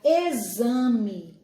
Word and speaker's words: exame: de z por exemplo quando nós falamos a palavra exame exame né é uma palavra que se escreve com xixi mas ela tem um som de z certo quando a gente